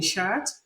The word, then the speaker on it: shirt: Shh. You have it in shirt. My brother is putting on a clean shirt.